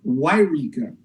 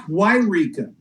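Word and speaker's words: Yreka: It's actually pronounced Wairika. No, there's two of them, isn't there? Well, Eureka is over on the coast, and that's Wairika.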